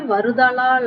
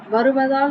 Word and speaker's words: வருதலால்: நான் பயிற்சி எடுக்கணும் சொற்கள் வந்து தெளிவா உச்சரிக்கணும் சரியா அதேபோல வானின்று உலகம் வழங்கி வருதலால் அப்படின்னு சொல்லணும் வருவதால் சொல்லக்கூடாது வருதலால் சொல்லணும் அதேபோல அடுத்தது வந்து அந்த